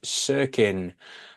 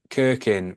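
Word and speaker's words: Cirkin: to all rexon fans and Dennis cirin as I've been pronouncing his name kirkin but that is because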